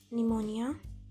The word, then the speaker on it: pneumonia: अगर पी के बाद एस या एन आता है तो ये नहीं बोला जाएगा. For example psychology, pneumonia, receipt.